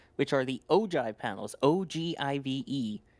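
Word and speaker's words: ogive: are the ojive panels, ogiv, despite being pronounced ojive.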